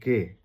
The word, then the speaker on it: Ge: জি হচ্ছে ওরা উচ্চারণ করে হচ্ছে গে। জি এর নাম হচ্ছে গে।